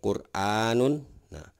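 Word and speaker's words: قرآن: ada kata Qur'an ya Nah ini Qur'an ini dibacanya secara tebal ya tidak tipis jadi seperti itu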